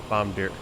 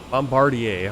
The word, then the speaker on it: Bombardier: flying the the crj's Bombardier bomb deer Bombardier I have to say it correctly Bombardier crj 700.